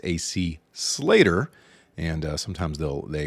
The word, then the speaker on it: Slater: And uh anybody that's watched Say by the Bell knows it's AC Slater and uh sometimes they'll they will mispronounce something. An amazing game, only giving up three runs. Absolutely. AC Slatter's pitching was brilliant.